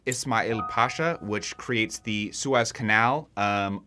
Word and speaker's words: Ismail Pasha: But after Ali, we have, I believe it's pronounced Ismail Pasha, which creates the Suez Canal.